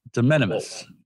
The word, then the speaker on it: de minimis: De minimis or minimus? De minimis. De minimis, yeah.